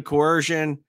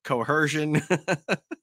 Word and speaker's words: coercion: threaten duress and I wanted a coercion and nine times out of 10 that's mispronounced cerion I I feel like